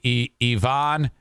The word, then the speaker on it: Yvonne: how you pronounced it it's i-v-o-n with a little thing above the o I think that might be e Vaughn gayete g-a-e-t-a uh both